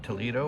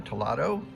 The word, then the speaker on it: Toledo: but today is August 22nd we are in Toledo or tolato depending on how you want to pronounce it just dropped our bags off at